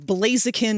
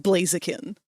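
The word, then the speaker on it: Blaziken: and blazakin is pronounced blazakin.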